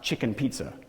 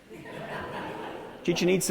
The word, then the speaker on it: Chichen Itza: I had a tour guide once say, no, this is not pronounced chicken pizza. Chichen Itza in Mexico, or Machu Picchu.